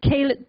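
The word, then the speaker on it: ceilidh: proud northern englishman he also started the first caled band in greater shanghai a caled for those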